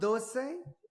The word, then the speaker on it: dosa: It's called do. It's spelled D O S A.